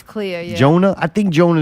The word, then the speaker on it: Clea: all right statement retracted how do you say this when name Clea C EA Clea Miss Cleo it's Clea yeah Jonah I think